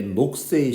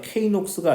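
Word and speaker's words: Knox: 식들은 그 다음에 밑에 녹스의 식 K가 묵음이에요. K녹스가 아니고 그냥 녹스, 큰 녹스도 아닙니다.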